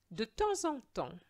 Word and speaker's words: de temps en temps: Now here we don't pronounce the final S of temps, which is time, but we have to make a liaison between the S of temps and the en. So we are going to say de temps en temps, and that liaison is going to be a Z sound. De temps en temps. And the final S of the second temps is silent.